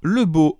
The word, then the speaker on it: Lebeau: au dessin, ancré par Lebeau Underwood. Oui, le mec s'appelle bien Lebeau, je confirme, hein, et ça s'écrit Lebeau, comme on pourrait dire « Oh, le beau garçon de Supplément Geek, comme